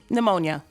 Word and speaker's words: pneumonia: good it's all right it's pneumonia PN pneumonia but ammonia you could